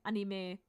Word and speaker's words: anime: speaker for me is I always try to pronounce stuff and as Japanese as I can um which trips me really up sometimes and I wonder if it sounds really pretentious for native speakers if I'm like I do not say anime I I say anime sometimes because the German pronunciation is also pretty close to that and so sometimes I